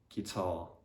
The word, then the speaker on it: guitar: The letter U is normally silent when it comes after the letter G at the beginning of a word. So for example, in guess, guest, guide, guidance, guitar, guys. Yeah, and also there's some